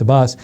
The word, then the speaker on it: Abbas: Sean Spicer also announced that the Palestinian president, Mahmoud Abbas, I think it's Mahmoud Abbas, I'm pronouncing the first name right, I know it's Abbas, will be welcomed on May 3rd at the White House.